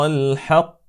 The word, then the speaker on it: الحق: فهي في الكلمه الحق فلا نقول الحاء هكذا انما الحاء هكذا الحق الحق الحق اذا قال الله تبارك